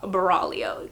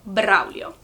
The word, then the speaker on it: Braulio: However, I do not like the English pronunciation of it. It is pronounced Braulio, completely different from Braulio.